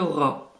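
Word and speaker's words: ر: La lettre suivante est le ra. C'est un R qui est roulé.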